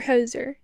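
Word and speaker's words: Hozier: Pala Taylor Swift the Lumin luminares lumins or hoser is how you say that I say h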